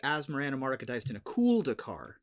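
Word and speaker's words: Asmoranomardicadaistinaculdacar: So I have heard a different pronunciation of this name as opposed to Asmarana Mardica Diced in a Kuldakar. Okay. Asmarana Mardica Dastinaculidakar. Is another pronunciation I'd heard.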